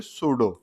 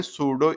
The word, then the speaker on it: pseudo: आगे क्या जोड़ते हो सूडो पी एस ई यू डी ओ आज तक मुझे ये पी साइलेंट है साइलेंट का कांसेप्ट मेरी समझ से बाहर है जैसे मैं आपसे बोल